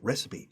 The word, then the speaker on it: recipe: It said recipe. And the teacher said recipe. Ah, recipe. That was the first time.